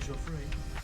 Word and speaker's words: Joffre: Now General Jacques César Joffre, that's how you say it, has been replaced by Philippe.